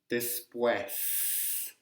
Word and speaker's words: después: So, after, después, después. Notice I pronounce the S. I live in Chile, so I know a lot of people say después, después, but I'm sorry, it's después.